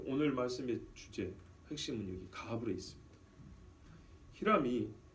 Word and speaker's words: 가불: 그냥 가불이라면 오해할까봐 하나님 좀 땡겨주세요 하고 이런 가불로 생각할까봐 히브리 말로는 가불입니다. 발음이 강합니다. 억셉니다. 가불입니다. 가불. 근데 우리나라 번역은 부드럽게 하는 특성이 있었고 이걸 부드럽게 가불이라고 그랬단 말이에요.